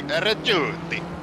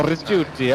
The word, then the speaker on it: Ricciuti: Ricciuti. Okay. That's a miracle that I got that even close to being right. Well, to be fair, it's actually Ricciuti. Oh, Rigiuti.